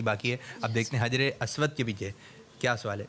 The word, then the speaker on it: حجر اسود: اب دیکھتے ہیں حجر اسود کے پیچھے کیا سوال ہے. اس کا صحیح تلفظ کیا ہے؟ حجر اسود. کیا ہے؟ حجر اسود. حجر اسود نہیں, حجر اسود.